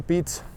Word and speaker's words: Piet: father pete and uh in touch we pronounce it the same way basically pete but we write it p-i-e-t and as far as